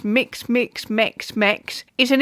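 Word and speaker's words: Mx: you what mix is amazing mix is usually pronounced mix mix mix mix is an English language neologistic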